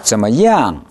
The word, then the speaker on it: 怎么样: 怎么样? 할 때 NG 발음을 생략하지 마십시오.